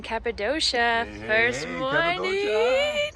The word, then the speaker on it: Cappadocia: Cappadocia. It's actually Cappadocia. Cappadocia, let's say it right.